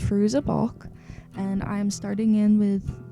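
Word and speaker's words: Fairuza Balk: played by I believe her name is pronounced fruz a balk and I'm starting in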